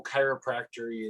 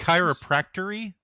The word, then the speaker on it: chiropractic: Did you call it chiropractery? I know. I don't know how to pronounce that word. Even they just call it chiropractic. Chiropractic.